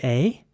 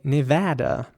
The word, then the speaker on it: Nevada: This place is spelled Nevada. And in American English, you would say Nevada with an A sound, although some Americans might also say Nevada, which in my opinion is quite British sounding though.